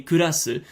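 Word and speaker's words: クラス: Like, they prefer to say kurasu rather than class, because it's more difficult for them to pronounce.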